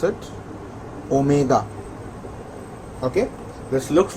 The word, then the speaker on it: omega: Guys, this looks like W, but please do not call this as W, it is omega. This is how you pronounce it, omega.